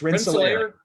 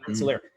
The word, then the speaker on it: Rensselaer: I want you to say it because I've never pronounced that guy's name correctly in my life. Oh, so it's Rensselaer. Gotcha. Yeah. Rensselaer.